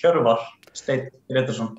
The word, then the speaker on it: Hjörvar Steinn Grétarsson: Just to be clear, is it Hjörvar Grétarsson? Do I say it correctly? Or? Yeah, it's actually quite a good pronunciation. It's Hjörvar Steinn Grétarsson.